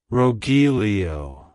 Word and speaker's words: Rogelio: inquire it's pronounced as rilio rilio rilio to pronounce it correctly emphasize the row at the beginning followed by a soft H and ending with Lio like hello Rilo goodbye Rogelio if you found the